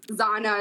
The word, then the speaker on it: Zahna: I just think so my full name is in Spanish Spanish that's where it comes from so just Zana is like the English version yeah so I